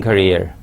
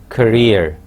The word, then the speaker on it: career: aid or ade help you in your teaching career before i proceed any further look at this last word it is career not career as some people mispronounce it carrier